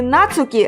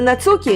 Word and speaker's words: Нацукі: Так, тепер переходимо на правильний наголос. Будемо говорити Нацукі, а не Нацукі, як мене виправили.